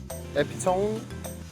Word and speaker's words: epitome: Epitome? Epitome or? Epitome? Epitome. That one was really hard. Yeah, they're all wrong. The spelling is misleading. Epitome has 4 syllables.